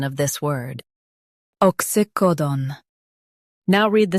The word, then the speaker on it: oxycodone: ox ycodone Stress co and keep done clear.